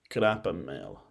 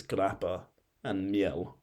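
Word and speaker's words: grappamiel: Now, if you were to move more eastward, you would find grappa male. That was butchered, but essentially it's grappa and miel.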